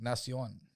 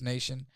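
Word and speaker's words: Nahcion: Oh, it's like Nion, right? But just nation.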